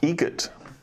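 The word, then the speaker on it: Eget: Adam Egret. Egret. Spelt differently. Like the bird. That's Egret. Do you know what Adam Egret has in common with a guitar player? Adam Egret has in common with a guitar player.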